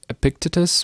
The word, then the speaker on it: Epictetus: I believe his name's pronounced Epictetus, but what he said was that men are disturbed not by events, but by their opinion of events.